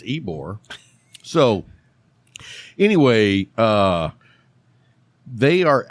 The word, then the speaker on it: Ybor: look but you know i said not long ago why borah yeah somebody was like a i was like that's not how it's spelled all right at least i can pronounce ebore so anyway uh they